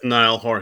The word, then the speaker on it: Niall Horan: I don't even remember how to pronounce that person's name. Yeah, it's Niall Horan.